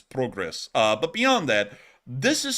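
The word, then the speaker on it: Прогрес: Or Progress for the most part. That's actually how it's said in Ukrainian, is Progress.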